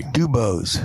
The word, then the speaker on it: DuBose: You got to say it the right way. DuBose.